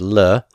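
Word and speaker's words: ל: But the preposition lamed, which will be pronounced here as le, means to or for.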